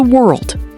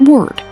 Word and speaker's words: world: Say it like this. Old world. Not word. World. Try it.